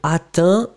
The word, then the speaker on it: atteint: Donc atteint, A-T-T-E-I-N-T. On ne prononce pas le T, mais il doit être écrit.